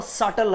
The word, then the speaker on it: subtle: तो एठी उच्चारण कौन हम सटल हम ठीक अच्छे।